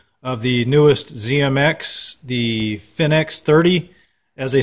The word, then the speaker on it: FinX30: doing an overview of the newest zmx the finnex 30 as they say on their website though it's it's spelt fi nx30 but it's actually pronounced phoenix 30 from silver silver drone and you everybody knows